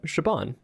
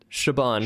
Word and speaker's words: Siobhan: Siobhan. Siobhan. Hey. Well, it's Siobhan. Want to stress on the second syllable, the van syllable.